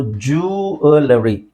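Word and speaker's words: jewellery: ತಪ್ಪು ಅದನ್ನ ಇಲ್ಲಿ ನೋಡಿ ಜುವೆ ಇಲ್ಲಿ ವಿ ಅಂತ ಇಲ್ಲ ಸೋ ಜುಲರಿ ಜುವೆಲರಿ ಜುವೆಲರಿ okay so ಅದನ್ನ ನೀವು ಜು ಅಲರಿ ಜುವೆಲರಿ ಜುವೆಲರಿ ಅಂತ ಹೇಳಬಹುದು ಗಾಟ್ ಇಟ್ ಜುವೆಲರಿ ಅಲ್ಲ ಆಲ್ರೈಟ್ ನೆಕ್ಸ್ಟ್ ಬಂದು ನೆಕ್ಸ್ಟ್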